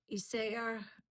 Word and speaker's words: Isager: warm it's knitted in isaa um yarn that's how I would pronounce that name I lived in Denmark for a number of years and I do speak Danish and that was that's how I say I don't know if it's pronounced isager in in American English but I always I've never heard it pronounced um I used her